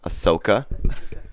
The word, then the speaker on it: Ahsoka: Ahsoka.